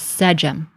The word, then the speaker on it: sDm: So in modern times, we pronounce this as sDm.